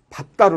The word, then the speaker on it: 밟다: 이건 달다고 아 아닙니다 밟다 이렇게 소리가 안나죠 그래서 이 발음은 밥 따로 납니다 이것을 의문 상의해서 이제